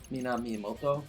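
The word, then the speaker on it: Minamimoto: him p man whoa how do you pronounce his name Min Moto yeah that's the correct way to pronounce it I had a a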